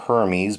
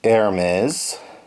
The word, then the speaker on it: Hermes: And Amelia, aka Hermes, is how her other name is pronounced. Not Hermes, but Hermes.